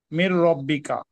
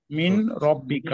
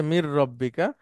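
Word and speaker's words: من ربك: okay sir রব্বিকা এখন যদি একসাথে যে বলি মির রব্বিকা মিন রব্বিকা হ্যাঁ ঠিক আছে মির রব্বিকা নুন সাকিনের পরে র আসলে একটা তাসদিদ হয়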